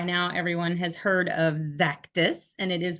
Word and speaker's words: Xactus: with a z zus we hear a lot of exactus and for those of us here we reinforce zactis a lot so um we'll know you're in the know if you know how to say it uh zachus was um